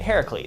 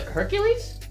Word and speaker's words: Heracles: yeah Harris please right Heracles what about him he kept saying like Hercules no not Hercules yeah yeah uh he